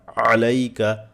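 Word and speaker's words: عليك: আসসালামু আলাইকা থেমে যাবে আসসালামু বলার পর থেমে যান আসসালামু আলাইকা চাপ দিয়ে বলেন আলাইকা আলাইকা আলাইকা বারবার বলবেন দেখবেন সহি হয়ে যাবে আসসালামু আলাইকা আসসালামু আলাইকা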